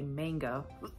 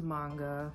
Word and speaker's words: manga: You know, we call them manga artists, and sometimes you might hear someone say manga. Oh God, I have to watch myself. Ooh. No, the correct pronunciation is manga. I mean, I'm not gonna jump down your throat if you say manga, because at first I thought it was that as well.